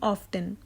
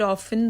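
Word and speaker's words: often: A option steady, B option certain, C option slow, या फिर D option ऑफ्टन, या फिर ऑफन, दोनों ही सही करेक्ट प्रोनाउंसिएशन है।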